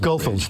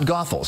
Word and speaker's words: Goethals: for me nothing nothing this is the Goethals go fools that's the correct pronunciation not Goethals know many of us say yes and and